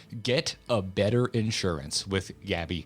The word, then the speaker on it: Gabi: Get a better insurance with Gabby.